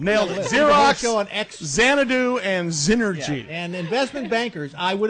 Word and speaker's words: Xnergy: question for you so so first of all zenergy correct yes okay so so because that's spelled with a with an X by the